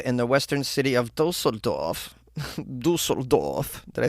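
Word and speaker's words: Düsseldorf: busted a pizzeria in the western city of dossor dorf did I say it correctly yes that's right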